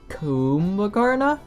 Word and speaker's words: Kumbhakarna: in the lower levels it's Mike oh it's pronounced kuma karna I've been pronouncing it wrong for the past